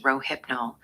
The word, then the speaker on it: Rohypnol: Kurt Cobain, Reuters International, FDA prohibi g all forms of rohipnol pronounced rohipnol have been removed from the acceptable drug list by the United States food and drug administration.